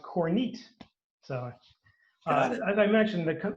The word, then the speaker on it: Kornit: president of our region and i called it cornet as well and i called the coordinator about three times during our discussion he had to correct me three times so i finally learned that it is pronounced corneat so as i mentioned that the company's been